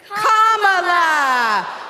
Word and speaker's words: Kamala: you pronounce it vir say comma like a common sentence then you say la like la la la la la put it together and it's 1 2 3 comma all right so let's